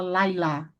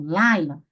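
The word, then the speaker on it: לילה: Você não fala lailá, lailá. Se eu falar lailá, a sílaba tônica eu puxei para o final. E não é assim. Nessa palavra, nesse substantivo, laila, a sílaba tônica está no início.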